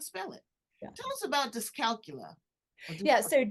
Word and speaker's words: dyscalculia: And they know how to spell it. Yeah. Tell us about dyscalculia. Yeah. So it's called dyscalculia.